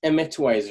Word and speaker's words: Emitwise: It's Emitwise, right? Am I pronouncing that exactly? Correctly? Emitwise, okay.